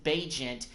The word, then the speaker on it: Bagent: has missed the last few games, and Tyson Bagent, by the way, I did not know that's how you pronounce his name until I looked it up